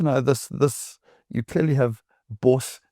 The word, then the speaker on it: BOS: You clearly have BOS. It's a South African word. Though I had to be corrected from saying it boss. So I found religion and started saying it right a little while back.